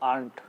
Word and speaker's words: Arndt: ARNDT, इसमें D silent है तो आर्ट।